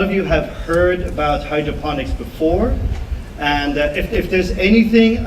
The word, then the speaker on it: hydroponics: They always say like hydroponics. It's actually hydroponics, because phonics means comes from phono. In Greek, it means sound, and it's like telephone, microphone. So it's not that.